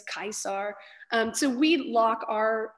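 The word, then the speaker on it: Caesar: when we pronounce it we use the hard c's and the hard g's you know gaius euless kaisar um so we lock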